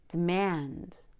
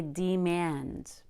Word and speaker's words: demand: relaxed try prevent discuss demand demand notice I don't say demand that would be equally stressing both syllables which would be very